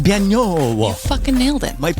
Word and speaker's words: Banno: It's Banno. You fucking nailed it. Might be something like, fancy. I don't know. Banno.